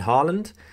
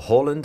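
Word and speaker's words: Haaland: the main man erlin harland or holland as uh i think it's correctly pronounced um youngest record youngster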